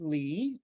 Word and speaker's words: Ley: So my name is Lee. I'm Dr. Ley. A lot of people call me Ley, but that's incorrect. I just spell my name wrong.